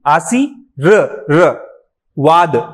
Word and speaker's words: आशीर्वाद: अब देखो आप बोलो आशी, आशी र वाद, तो रा के बाद वा की ध्वनि आती है, आई बात समझ में। तो ये फर्राटा भले बाद में लगा है, लेकिन उसका उच्चारण कहाँ आता है, यहाँ पे आता है, रा का, ठीक है। तो इसलिए आशीर्वाद ऐसा लिखा जाता है।